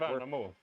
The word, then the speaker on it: Värnamo: You pronounce it. Värnamo.